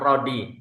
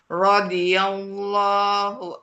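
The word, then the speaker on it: رضي الله: radhiyallahu radhiyallahu Sebentar, bukan Rodi. Rodi. Rawi. Allah. Rawiyallah. radhiyallahu anhum wa radu an.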